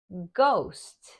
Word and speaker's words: ghost: a few different sounds sometimes this blend sounds like G so the H is silent for example ghost ghoul yogurt other times